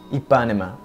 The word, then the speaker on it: Ipanema: for the last it is the hydro Koryo a Panama or Ipanema a Panama the Panama something like that it just helped me out pronounce it correctly three two one Hydra core Rio Ipanema according to the website if you are in